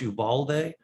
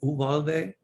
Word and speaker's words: Uvalde: of children in, I don't know if it's pronounced Uvalde, I think Uvalde.